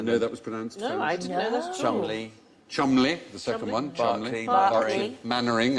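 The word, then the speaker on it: Mainwaring: that was Chumlee Corey Mannering as in kept remembering the bottom is beaver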